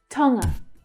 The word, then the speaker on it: Tonga: Tonga, Tonga. The stress is on the first syllable, tongue, tongue, with the second syllable being the reduced schwa sound. Tonga.